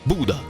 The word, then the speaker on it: Bodø: Poco dopo a Bodo, che si legge Buda.